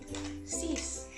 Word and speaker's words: six: Next, we have 6, which is spelled the same but pronounced differently. Six.